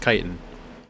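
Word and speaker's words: chitin: iin right no wait c h iin kitan is in fact pronounced kitan hey Frank Frank your [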